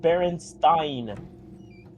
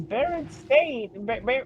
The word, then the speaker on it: Berenstain: It's the Berenstain. I grew up with Berenstein. Heresy. No, it's not heresy. I remember it as Berenstain. Berenstein until actually it was Berenstain, and there was a big Mandela effect around it.